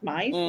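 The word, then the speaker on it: Mys: It's Mize because it's M-Y-S, Mize.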